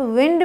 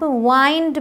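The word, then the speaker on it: wind: आपको दिखा रखा है इसे आप विंड भी बोलते हैं बट इसे आप वाइंड भी बोलते हैं तो यहां ये विंड है यहां मैं बोल रही हूं वाइंड है और ऐसे और भी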